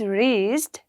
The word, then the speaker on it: wrist: I I don't pronounce in wrist. I don't say the word W, right? So I just say RIST, wrist, right? So W is a silent word in wrist.